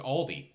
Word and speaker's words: Aldi: It's just Aldi. That's fair. There's no apostrophe S? No, it's just Aldi. Oh. Yeah. Wait, Oh, Aldi's isn't called Aldi's? No, there's no S.